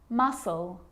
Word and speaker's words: muscle: depth and doubt now the letter C can cause a few problems because it's often silent after the letter s like in these very common examples they're quite tricky muscle muscle scissors fascinate scene